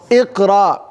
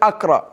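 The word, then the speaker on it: اقرأ: Iqra. Why don't you say Akra?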